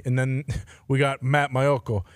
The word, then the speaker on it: Maiocco: Well pronounced. Yeah. Thank you. Is that how you say it? Yeah. Maiocco.